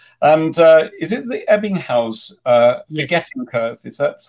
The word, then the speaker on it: Ebbinghaus: get his thoughts and uh is it the ebbinghaus uh forgetting okay is that how you pronounce it yeah good and your how your